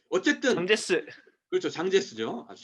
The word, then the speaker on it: 장제스: 그 국민당 장개석이라는 그 어쨌든 장제스. 그렇죠. 장제스죠. 아주 잘 아시군요. 그러니까 중국말로 하면 장제스고 한국 발음으로 하면 장개석이에요.